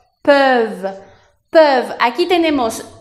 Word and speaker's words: peuvent: Se dice ils peuvent o elles peuvent. Aquí se escribe con ENT, pero no se pronuncia porque es un verbo conjugado.